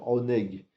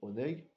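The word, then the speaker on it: עונג: On a en hébreu le mot qui s'appelle oneg, qui veut dire les plaisirs du Gan Eden. Ça s'écrit Ain Nun Gimel, oneg.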